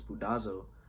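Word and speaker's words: σπουδάζω: The pronunciation is spudazo.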